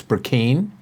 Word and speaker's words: Burkeen: Just want to remind everybody, it's Burkeen. If you mispronounce that, you're going to hear about it.